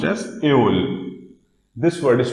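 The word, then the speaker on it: Öl: Okay, this word is pronounced as Eol. This word is pronounced as Eol.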